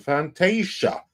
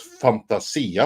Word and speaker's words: Fantasia: media says for $2 remember the re-release of Fantasia which I have been informed that's how you're supposed to pronounce it and not Fantasia like I always say in 1990 uh actually